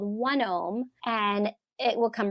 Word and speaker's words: OneOme: Now the Mayo Clinic developed a test called 1-ohm, and it will come right to your house.